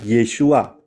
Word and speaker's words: Yeshua: ingat ya namanya itu yesua bukan Yunani ya yeshua ngerti ya Karena sekarang mulai ada banyak pengajaran